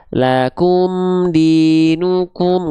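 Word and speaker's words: لَكُمْ دِينُكُمْ: Jadi muncungkan lakum dinukum. Ya, jangan ragu-ragu tapi jangan juga lebai. Lakum dinukum. Enggak gitu juga ya. Muncungkan dengan aturan.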